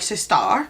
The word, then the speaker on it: Sistar: I think it's just pronounced Sister, but I like Sistar.